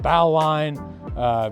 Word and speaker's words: bowline: It's spelled Bowline. It's pronounced bowline. Don't ask me why, but it is.